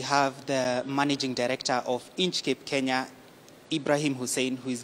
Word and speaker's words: Inchcape: really butcher the name it's actually inch cape yeah inch like the distance and keep like a hat so inscape yeah so